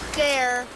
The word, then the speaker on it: der: That's how you say it. I'm in German. I know how to speak German. Dare. It's dare, Jesus!